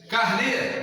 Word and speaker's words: carnê: Carnê, está no nê.